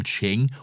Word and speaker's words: Qing: No, it's spelled Qing but pronounced as Ching, so that is correct.